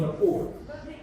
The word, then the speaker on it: rapport: What's the meaning of rapport? It's not rapport. It's not rapport. The Z is silent. It's rapport. It's a French word.